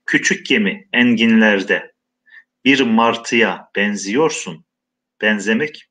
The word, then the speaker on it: benziyorsun: Küçük gemi enginlerde bir martıya benziyorsun. Benzemek, benzeyorsun. Kelimenin kökü ek aldığında yazımı bozulmuyor. Fakat telaffuzda benzemek diye okumuyoruz. Benzeyorsun diye okumuyoruz. Benziyorsun diye okuyoruz.